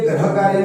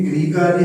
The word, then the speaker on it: गृह कार्य: तो इसलिए ये ग्रह कार्य ना होके ये गृह कार्य है, और ये जो है मातृभाषा ना होके मातृभाषा है।